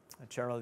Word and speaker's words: Gerald: Gerald, as you pronounce it in English.